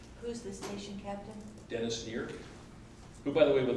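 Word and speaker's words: Kneer: Dennis Neer, who, by the way, would like to come to a meeting sometime, so. That'd be awesome. N-E-A-R. K-N-E-E-R, sorry. Yeah. Sorry. E-E-A-R? K-N-E-E-R. E-E-R. Yeah. The K is silent.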